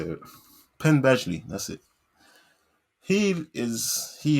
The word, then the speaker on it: Penn Badgley: something like that rings the bill i can spell it i can't say it penn badgley that's it he is he is like a